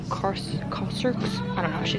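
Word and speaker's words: Kérastase: Also, turns out I've been pronouncing the brand Kerx wrong. It's apparently Corser.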